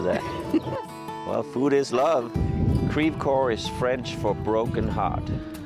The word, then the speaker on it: Creve Coeur: Crève coeur, is that how you say it? How do you say it? Crève coeur. Crève coeur, okay, because French it would be crève coeur.